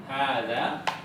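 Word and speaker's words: هذا: pertama di sini ada hadza hadza ini walaupun di sini tidak diberi tanda panjang ya tetapi dibaca panjang hza hadza coba diucapkan hadza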